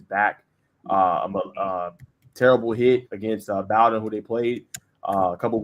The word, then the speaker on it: Bowdoin: Bowdoin.